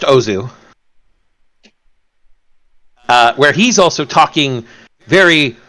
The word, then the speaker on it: Ozu: And he begins OZ News, still pronounced Ozu, where he's also talking very rapidly in English in a very childish way.